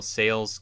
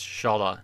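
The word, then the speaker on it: Šalé: I have to say Shala now, because I heard the pronunciation with the World Juniors. It's Shala, not Sale.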